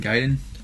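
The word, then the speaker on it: Gaiden: I was a kid I pronounced the ninja gayen yeah me too me too so am I the only one that's saying gaen no I think it's the right way to say it Ninja giden is the correct way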